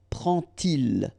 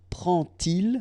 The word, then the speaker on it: prend-il: to show you that you won't pronounce it like d to make the liaison, but you will pronounce it like t. And so you will get prend-il, okay?